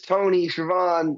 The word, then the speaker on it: Tony Schiavone: I say pseudo because it was Tony Schiavone, I believe that's how you pronounce his name.